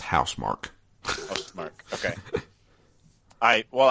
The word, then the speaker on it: Housemarque: Apparently it's pronounced Housemarque.